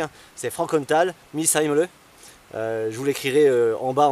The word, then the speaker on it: Frankenthal-Missheimle: Alors le nom complet est difficile à prononcer, hein. C'est Frankenthal Misheimle.